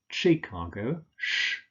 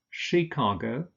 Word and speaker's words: Chicago: Canberra, capital of Australia, Chicago, not Chicago, Chicago, Edinburgh, Inverness, stress on the last syllable, and Aberdeen.